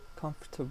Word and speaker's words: comfortable: Comfortable. Comfortable. Comfortable. Okay? We don't pronounce the or.